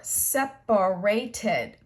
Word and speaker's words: separated: So separate, that's 3 syllables. So in the simple past tense, we're going to give it an extra syllable. It will have 4, separated.